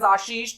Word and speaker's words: Ashish: now it's incorrect because I pronounce myself as Ashish, तो you need to say Ashish as well.